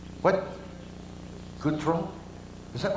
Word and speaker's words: Gautreaux: I can't pronounce it. how do you say your last name? What? Gautreaux? Is that right, Gautreaux?